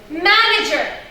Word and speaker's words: manager: The first syllable. Manager.